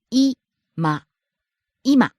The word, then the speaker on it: 今: 今 Now. 今今 Starts high, ends low.